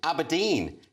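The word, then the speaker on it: abrdn: Aberdeen has defended its decision to drop the vowels. What's this about? Yes, dropping vowels hasn't done us any harm, insists Aberdeen. So you pronounce it Aberdeen.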